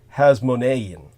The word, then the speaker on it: Hasmonean: Line his uh lineage to the hasmonean Kings or has monan the correct pronunciation through the genealogy that's